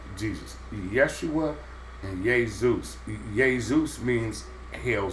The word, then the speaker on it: Yeshua: Jeshua. No, Yeshua, with a Y. It wasn't pronounced Jeshua because J wasn't invented, so J you couldn't use.